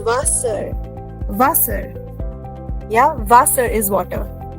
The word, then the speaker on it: Wasser: Everywhere we were considering S and Z, right? But this is not Wasser. It is Wasser.